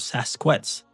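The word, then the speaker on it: Sasq'ets: The word Sasquatch is an Anglicized pronunciation of Sasquets.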